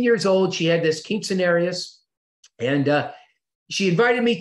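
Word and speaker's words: quinceañera: a cute scenario is king cenarius okay wait you nodded am i saying that right kelly king cenarius quinceanera that's that's it that's it you're better at spanish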